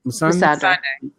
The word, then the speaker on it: Missandei: Missandei.